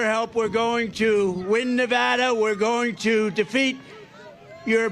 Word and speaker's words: Nevada: we love it and you always have to say it correctly Nevada you Ain got to call it Nevada with thousands of proud